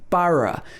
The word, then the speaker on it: borough: boroughs so here again the first o is pronounced ah and the end of